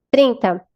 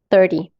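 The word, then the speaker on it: thirty: Então, quando a gente entra nos números, nas dezenas, a primeira sílaba é a tônica. Quando a gente tá aqui nos números do 13 ao 19, que eu gosto de falar que eles são os adolescentes, né, por causa do teen, quer dizer adolescente em inglês, então o teen é mais forte, tá?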